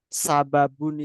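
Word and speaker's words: سبب: Sabab kalau sababun itu kayak gini ya. Pendek.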